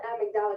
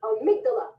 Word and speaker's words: amygdala: I call it amygdala because I think in Spanish it's amygdala, and I thought of it that way, but it's amygdala.